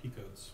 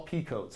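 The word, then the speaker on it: Picotte: stands out in this they're all picots they're all pea coats although it's actually picot go figure right it's peacock all the names are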